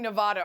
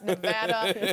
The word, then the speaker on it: Nevada: Caleb and Cody, Nevada wins. Sarah Spain? You guys keep saying Nevada. Are you doing that on purpose after I told you all it's Nevada?